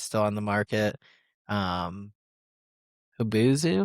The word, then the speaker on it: Hubzu: Hubuzu? Is that how you say it? You had to go to a website and do bidding. Hubzu? And Does it say in the description? HUBZU. Hubzu.